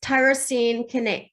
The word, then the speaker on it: tyrosine kinase: is, and I didn't look up how to phonetically say this. I actually can. My organic chemistry and biochemistry will, it's tyrosine kinase.